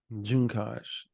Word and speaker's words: Juncaj: on his extensive research it is Anton juncaj junos junos Anton junos we'll talk about that offer